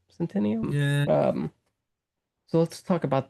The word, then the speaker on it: Centineo: I think that's how you say his name, Centineo.